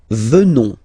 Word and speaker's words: venons: Nous venons, okay, O-N-S, classical ending for nous, okay, final S not pronounced, so O-N, on, venons, venons, nous venons, nous